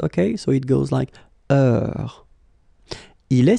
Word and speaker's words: heure: Remember, is not pronounced, okay? So it goes like heure.